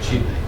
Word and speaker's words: Chile: It's pronounced Chile. Country in South America. Chile.